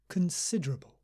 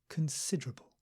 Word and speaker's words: considerable: no acceptable accessible and the third word also has a schwa in the first syllable considerable considerable not con it's not or it's Kun considerable but we still stress the second syllable considerable considerable considerable and